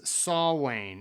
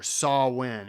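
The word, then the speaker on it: Samhain: go way back to Sam Hayne also pronounced as saw Wayne is a pagan religious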